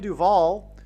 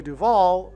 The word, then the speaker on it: Duvall: And so Shelley Duvall, her name rhymes with Hall, and Paul Simon and Shelley Duvall met on the movie set of Annie Hall.